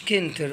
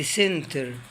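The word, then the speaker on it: center: كلمة سنتر، كلمة سنتر، شايفين السي جاي وراه حرف الاي، ما قلتش كنتر، قلت سنتر. الكلمة اللي بعديها جاي السي وراه حرف الاي، تبقى الكلمة ايه؟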